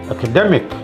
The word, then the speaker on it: academic: ICAL, ik or ikal, the syllable before that is stressed. Diabetic, academic, not academic. Academy, yes, but academic, academy, but you add ik, academic, second stress, a primary stress, academic.